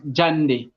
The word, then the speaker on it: JAND: Justin and Emmanuel so Jay from Justin and E from Emmanuel pronounced as jand uh so yes uh